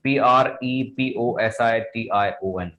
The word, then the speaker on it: preposition: Actually this is प्रेपोजिशन, this is नॉट प्रीपोजिशन। जब भी आप इसको प्रोनाउंस करें तो इसका आपको थोड़ा सा ध्यान रखना है। पोजीशन, this is नॉट pre, actually आपको प्री नहीं प्रोनाउंस करना है, आप जब भी प्रोनाउंस करेंगे तो इसको बोलेंगे preposition, preposition.